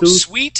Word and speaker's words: suite: suit suit suit there you go sweet has an e at the end okay so class that's how you tell the difference if you're talking about a hotel room or a hotel suite that has an e at the end but if there's no e that word is suit suit suit okay good all right